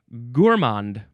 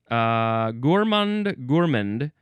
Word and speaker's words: gourmand: Gourmand. Gourmand. The emphasis is on the first syllable. I would have assumed gourmand for some reason.